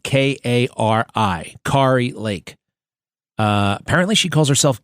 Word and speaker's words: Kari: It's spelled Kari, but she says Carrie.